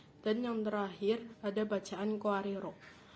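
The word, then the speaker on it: قواريرا: Di bacaan qawariro ada 3 cara membacanya. Yang pertama, apabila berhenti pada qawariro pertama, maka ro-nya dibaca panjang. Dan apabila berhenti pada qawariro kedua, maka ro pertama dibaca pendek dan qawariro yang kedua dibaca sukun.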